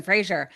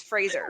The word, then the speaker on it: Fraser: He said his name is pronounced Brendan Fraser. Oh, really? Well, regardless, he made a silly YouTube. Everybody mispronounces my name. It's Fraser.